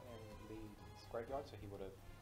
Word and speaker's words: Le: Was that the correct pronunciation? Lee, yeah.